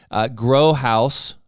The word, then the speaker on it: GroHaus: And GroHaus, did I say it right?